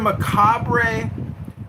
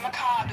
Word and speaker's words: macabre: You're just you're a macabre uh person who's interested in death. Macob is how you pronounce it.